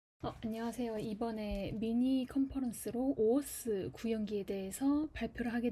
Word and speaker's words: OAuth: 이번에 미니 컨퍼런스로 오어스 구형기에 대해서 발표를 하게 된 이은비라고 합니다. 반갑습니다. 네, 우선은 이제 목차는 다음과 같고요. 오어스라고 읽으시면 되고, 첫 번째로는 개요, 두